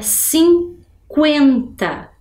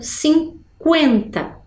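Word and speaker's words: cinquenta: língua portuguesa tem exceções por exemplo na palavra 50 Olha lá que eu tenho a letra q u e o e mas eu escuto o som da vogal u 50 Então não é um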